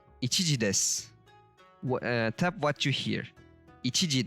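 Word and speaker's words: です: Ichiji desu. As we can see, we don't hear su. It's just s. Des, not desu. Most of the times, and that u at the end of su drops like 99%.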